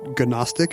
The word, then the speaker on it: Gnostic: this very moment that I said the G in Gnostic as if it were actually pronounced that way because they don't know